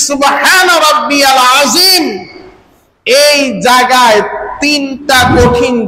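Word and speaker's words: رَبِّيَ: রব্বিয়াল, এখানে ইয়া লাম জবর ইয়াল, অথচ আমরা বলি রব্বিয়াল। রব্বিয়াল বলি, হামজা লাম জবর আল হয়ে যায়। এখানে কিন্তু ইয়া লাম জবর ইয়াল, রব্বিয়াল।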